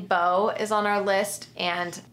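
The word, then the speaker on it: Beau: But Bo is spelled B-E-A-U.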